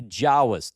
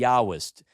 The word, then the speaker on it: Yahwist: If it uses J uh Yahweh they called it the jawist. The Yahwist is the way it's pronounced.